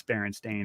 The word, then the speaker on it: Berenstain: Yeah, no, but I mean, but the last name is usually spelled like Bernstein, like the composer. Oh, okay. Conductor, it's Bernstein, but it's Stain, and that's very unusual, and like that's the Mandela part.